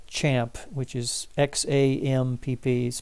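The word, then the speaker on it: XAMPP: that I grabbed here was this thing called champ which is XA MP piece pronounced champ and it stands for cross-platform Apache Maria dB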